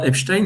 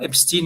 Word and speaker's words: Epstein: un nom askénaze, donc le Stein, en fait, se prononce, peut-être que je ne prononce pas si bien non plus, hein, mais en tout cas, il doit se prononcer, donc c'est pas Epstein, mais c'est Epstein, une fois de plus,